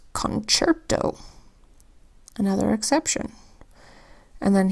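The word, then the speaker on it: concerto: here's another one where the second C in this word makes the CH sound this word is concert doh another exception and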